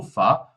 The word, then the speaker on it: ver: O prefixo inseparável é esse ver, que em alemão a gente pronuncia como fa, e a sua raiz é kauf.